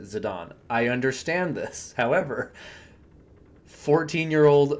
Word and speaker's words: Zidane: name or zadon because this is a European name and you pronounce it zidon I understand this however 14-year-old American uton Boy Colby pronounced it zidane growing up so that's